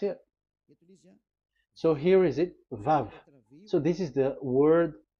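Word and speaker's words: ו: So the word, the shape Vav is really pronounced V, like Vogue.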